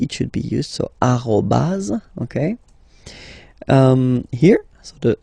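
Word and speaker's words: arobase: So officially we called it arroaz arroaz. Okay. But then well let's be honest we can hear many French people or French speaking people using this at. Okay. Uh but then the French of course at all right uh but officially it should be arro.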